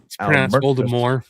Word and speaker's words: Voldemort: Voldemort, the T is silent.